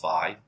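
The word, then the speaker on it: phi: say here is that I know I keep saying fee for this I know some people say this is five I did look it up and I think both pronunciations are correct here so some of you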